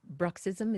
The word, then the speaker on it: bruxism: She said, touch wood, much Yeah, better now, but the stiffness and clicking may have been due to bruxism. Is that how you pronounce yes, it?